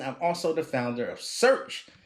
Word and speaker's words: Shurch: And I'm also the founder of Shurch. It's spelled like church without the C.